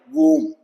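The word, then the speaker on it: bomb: है टूम बम कोम ब की आवाज नहीं आएगी खैर अभी हम बात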